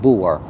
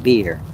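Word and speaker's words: Buer: So the demon is called bore, b u e r, but it's really pronounced beer.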